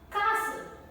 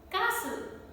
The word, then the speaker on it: castle: debris debris then t can also be silent when it comes with the combination of st t becomes silent listen now listen to me carefully listen not listen to me carefully listen castle castle it is not ballet